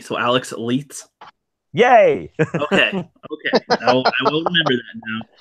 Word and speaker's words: Leithes: No one can pronounce my name. Don't worry. Oh, Doomcock always says Leith. Doomcock always said Leithus, so I'm like, oh, Alex Leithus.